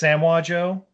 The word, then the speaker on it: Samoa Joe: king shark and then it's pronounced samwa joe my bad because you know